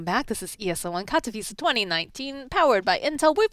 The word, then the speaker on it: Katowice: Can you pronounce the name of this tournament again? ESL One Katowice. I needed to hear that. Okay. I've been butchering that for like what a week. What have you said? Katowice.